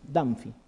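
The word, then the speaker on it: Dunphy: Signo de Danfi, así como suena. Danfi. Dunfi se escribe, ¿no?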